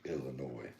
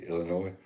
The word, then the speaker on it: Illinois: to learn to say Illinois? You know how many times I had to be corrected? You said Illinois? It's got an S on it.